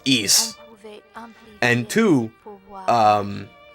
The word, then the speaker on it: Ys: found out uh well one is pronounced East and two um it's